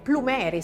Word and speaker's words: Plumeri: Saremo oggi in compagnia 15 minuti di Joe Plumeri, un nome che io l'ho pronunciato all'americana, ma è Plumeri, se così vogliamo dirlo, che tradisce un po' le sue origini italiane, addirittura dalla Sicilia, sì.